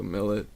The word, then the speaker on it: Millett: Or Well, it is originally French, but I pronounce it English, so Millett. Just Millett, yeah.